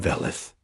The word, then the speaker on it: Velith: I am Velith. She pronounced it with a soft V that sounded like wind through leaves.